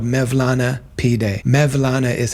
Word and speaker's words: Mevlana: that there's a place there called mevlana pday mevlana is how they pronounce maana and so it's related to Jalal